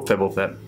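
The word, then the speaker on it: Fblthp: Oh, Fibblethip. That's how you pronounce it, homunculus.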